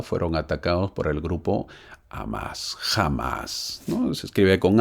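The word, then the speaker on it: Hamás: atacados por el grupo amás jamás no se escribe con h h a m a s amás lleva tild de la a pero se pronuncia como h a veces se pronuncia como jamás también es ellos son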